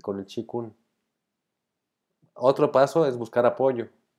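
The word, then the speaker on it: qigong: de nadar medito hago chikun que para los que no lo conocen googleen o YouTube bien chikun se escribe q I gong q q I gong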